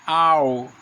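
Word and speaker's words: hour: a mais porém é na palavra hora em inglês que se pronuncia ao é o som vende uma vogal apesar da palavra começar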